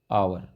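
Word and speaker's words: hour: तरीके से इन एन आवर इसमें आवर में एच साइलेंट है तो यहां पर भी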